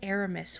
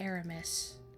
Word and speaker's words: Aramis: I remember they pronounced Aramis weird. They said Arami, but it should be Aramis, even though it's French.